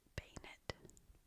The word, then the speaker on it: Banette: Um Banette Bay-net Bay-net Interesting. I'm still going to call him Banette. You know, it says Bay-net.